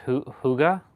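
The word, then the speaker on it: hygge: So, it's pronounced huga. Yes, exactly. It's pronounced huga with a kind of soft rounded sound.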